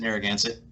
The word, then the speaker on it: Narragansett: is that how you say it is it narragansett there that's it yep yeah my taste is